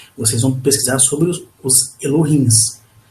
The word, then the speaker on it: Elohim: Quando vocês pesquisarem tudo sobre Akhenaton, pelas referências que tem na internet, vocês vão pesquisar sobre os Elohims. Pronuncia-se Elohim.